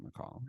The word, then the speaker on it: Mackall: Taylor Mackall, Mackall. I appreciate that you pronounce it right.